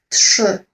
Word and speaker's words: trzy: So basically, for Y, I'm doing what you can think about as a, well, duck face. Okay, trzy. Tak? So think about it when people do selfies and they kind of do this duck face for a selfie, right? Or maybe even like when you want to blow a kiss to someone, you see the mouth movement. That's the mouth movement you want to achieve.